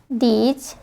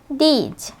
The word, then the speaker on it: the: তো দেখো, যখন কোনো ওয়ার্ড কনসোনান্ট দিয়ে শুরু হয় তখন সেই ওয়ার্ডটির পূর্বে যে ডেফিনিট আর্টিকেলটি থাকে সেটির উচ্চারণ হয় দা।